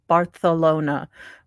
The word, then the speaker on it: Barcelona: oh well when you're I know it's pronounced barthelona but I am not going to lisp my seas because I think that